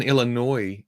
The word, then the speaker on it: Illinois: now as well foreign the s in Illinois is silent see that's what I